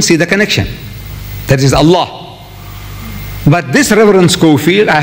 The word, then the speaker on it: Allah: You say Allah. I said, look, say Allah, my language. My language, I want you to pronounce as I want you to pronounce.